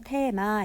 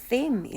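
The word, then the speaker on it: theme: 보통 주제를 타라고 하잖아요 그런데 한국어로는 테마 이렇게 발음 하지만 영어로는 때 이미 라고 합니다 썩스 다이어트 네임드 라고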